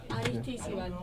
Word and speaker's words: Aristizabal: Aristizabal. Aristiz. I think it's, yeah. Aristizabal. Yeah. Aristizabal. Aris, it begins A-R. Yeah. But Aristizabal. So Osa Seca, right?